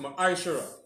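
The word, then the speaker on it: מעשר: Means 10th in the Hebrew and is pronounced Ma'aishara.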